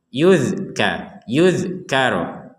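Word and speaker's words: يذكر: Huruf zal di atas ini kita membacanya tanpa pantulan. Yuzkaro, yuz gak ada pantulan.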